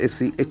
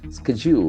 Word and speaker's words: schedule: The same way we have one more word, S-C-H-E-D-U-L-E. So that D, the letter D has got J sound. Schedule.